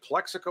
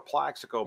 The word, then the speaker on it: Plaxico: like yeah okay so is it plexico or Plaxico burst and he goes well he goes by both yeah like no we